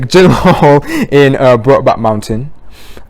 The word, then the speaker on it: Gyllenhaal: cowboy um alongside jake jim horn general hall sorry i said i pronounced his name terribly wrong there jake gyllenhaal in uh brought back